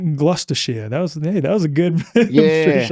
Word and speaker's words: Gloucestershire: Brotha Truth's Anglo-Saxon heritage can be traced back to, how do you pronounce that? Gloucestershire. Gloucestershire.